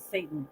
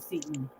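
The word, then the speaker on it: seitan: I never know if it's, some people say it's call it Satan instead of Seton. I always pronounce it like it's spelled, not like it's supposed to be.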